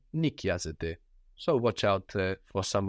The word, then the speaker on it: νοικιάζεται: So, again, sounding the same as you plural meant, but spelled with the AI ending, like the verb είναι, νοικιάζεται.